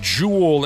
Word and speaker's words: Joel: A lot of times with hockey players, it looks completely different than how it's pronounced. I thought it was Joel Ericson. It's not. It's Jewel because he's a frigin Swede.